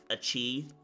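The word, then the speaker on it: açaí: going to come in it's not pronounced AI it's pronounced a chei okay bro uh blackberry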